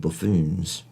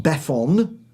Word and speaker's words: buffoon: Buffoon or buffoon, depending what part of the world you come from. Buffoon. Not baffon.